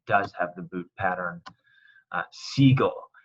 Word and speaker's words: sigo: Sigo, it takes out the U to maintain that hard G sound.